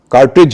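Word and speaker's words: cartridge: अब हम आते हैं जिसमें डी और जी साथ होते हैं लेकिन डी का उच्चारण आप नहीं करते, जैसे बजट है, बैच है, ब्रिज है, कार्ट्रिज है।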